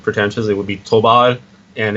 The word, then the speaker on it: Tabár: it you just said teh bars fine yeah yeah it it's it's a it's a little crazy because the the Hungarian pronunciation is is impossible for anyone so I wouldn't like